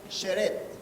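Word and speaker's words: שרת: En el hebreo se usa la palabra sheret, se escribe muy raro, pero se pronuncia sheret.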